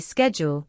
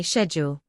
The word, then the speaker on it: schedule: Americans say schedule, while Brits often say schedule. Neither is wrong, just different.